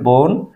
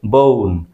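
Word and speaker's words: bone: যেমন বোন, আমরা বলি বোন, এখানে ও ভাওয়ালের উচ্চারণ ও, বোন, কিন্তু নেটিভ স্পিকাররা উচ্চারণ করবে ও এর মতো বউন।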